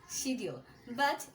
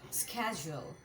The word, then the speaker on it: schedule: সো আমরা কি বলি শিডিউল, বাট এটা কিন্তু আসলে শিডিউল না। তো এটা কিন্তু দুইভাবে প্রোনাউন্স করা যায়। যদি আমরা আমেরিকান স্টাইলে বলতে চাই তাহলে আমরা বলবো স্ক্যাজুয়াল, স্ক্যাজুয়াল, স্ক্যাজুয়াল। সো আমার আমেরিকান প্রোনাউন্সিয়েশন খুবই ভালো লাগে। আই লাভ আমেরিকান অ্যাকসেন্ট, এর জন্য আমি স্ক্যাজুয়ালটাকে ইউজ করে থাকি, স্ক্যাজুয়াল। কিন্তু তুমি যদি ব্রিটিশ বলতে চাও তাহলে তুমি বলতে পারো শিডিউল বা শিডিউল, শিডিউল বা শিডিউল।